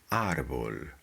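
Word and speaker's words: árbol: An arbol has the accent on the second to last, because if you drop the accent here, the sound would change to arbol. Arbol with an accent, arbol without the accent.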